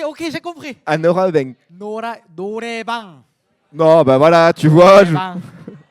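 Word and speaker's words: noraebang: Mais si je te dis qu'est-ce qu'un noraobeng, est-ce que ça te dit quelque chose? Oraotek. Un noraobeng. Noraobeng. Norameng. Attends, Attends, je pense que vous prononcez. vas-y, attends. Ah, si, ok, j'ai compris. Un noraobeng. Norebang.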